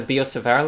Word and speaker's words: Biot-Savart: So to review the key concepts, we have the Biot-Savart Law, and we also continue to remember that in many cases in French, the T is silent, as is doubly emphasized in this case.